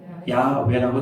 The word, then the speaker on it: 야훼: 여호와하고 야훼는 같은 얘기예요. 같은 말이에요. 발음상의 차이가 났는데 여호와가 맞을까요? 야훼가 맞을까요? 뭐가 더 맞을까요? 둘 다 맞아요. 근데 우리가 보는 성경은 뭐라고 써 있습니까? 여호와라고 써 있죠. 학자들은 여호와보다는 야훼가 더 맞는 것 같다 이렇게 말하는 분들이 많아요.